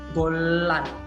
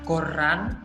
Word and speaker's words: 곤란: Nah, di sini kalian bisa lihat kan, kalau ada L di bawah, kemudian ketemu L di sampingnya, ini bacanya itu langsung nyambung jadi L. Golan. Bukan goran atau goran, enggak, tapi langsung golan.